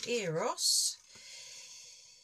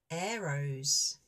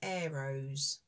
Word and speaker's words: Eros: if we go to eros eros oh it's actually arrows and apparently he's the Greek god of love so when you pronounce it is actually arrows arrows there we go so